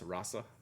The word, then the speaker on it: Rasa: the new Rossa paper are we saying it with like uh like an s or like a z what's the the what's the proper pronunciation so this is um musubi's new um we'll pull that up in just a second musubi's new uh in-house paper with an S rasa so Kimberly you'll be